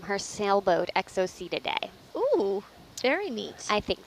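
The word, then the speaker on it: Exocoetidae: up as I go EXO see today I would say EXO see today okay EXO see today it is so there you go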